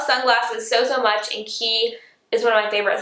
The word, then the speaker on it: Quay: It looks like Quay, but it's actually pronounced key.